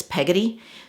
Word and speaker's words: Peggotty: I think I said Pagadi, and I think it's Peggotty. So it's the Peggotty hat, and this is actually a free pattern over on Ravelry.